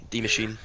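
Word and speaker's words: Die Maschine: isn't it no it's it's D it's German D machine I can't stop seeing flash Houston just trailer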